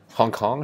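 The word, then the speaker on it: 香港: So Hong Kong should be pronounced with the same pitches, same tones as 1 and 9.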